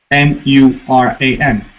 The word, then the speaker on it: Muran: Do you know a Lyran whose name is Muran? M-U-R-A-N. Muran. Yeah. M-U-R-A-N.